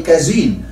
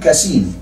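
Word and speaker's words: casein: الكاسين اللي احنا بنسميه بالعربي كازين، هو النطق السليم كاسين اللي هو البريتش انجلش يعني.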